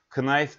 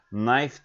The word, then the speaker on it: knife: Buradaki K en baştaki K sessiz arkadaşlar. Knife diye okunmuyor. Knife diye okunuyor.